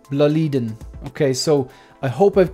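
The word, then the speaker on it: BLÅLIDEN: with seven Ikea bledans now I used to pronounce it baladin but then a um Martin from Sweden reached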